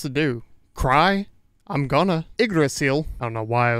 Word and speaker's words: Yggdrasil: Well, in most Norse languages, this is said as Yggdrasil.